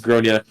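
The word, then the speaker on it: Gráinne: She asked what I meant, and I said, well, in Ireland, they typically pronounce it as Gronia.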